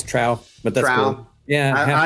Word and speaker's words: Trowe: It's Trowe, but that's Trowe.